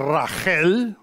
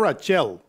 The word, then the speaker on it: Rachel: Sarah, Rebecca, Leah, and Rachel, not Rachel, Rachel is how you say it, are four.